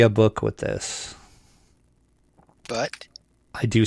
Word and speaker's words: id: I always said id, but... Yeah, so have I. Yeah, I've heard it ID Software too, but I think it's id.